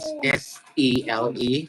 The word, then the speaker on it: Cele: I mean, it's spelled CELE. Like I don't get how I'm supposed to understand. Okay, so if it was spelled SELE, how would you pronounce it? SELE, Sele, And then CELE. Sele. Interesting.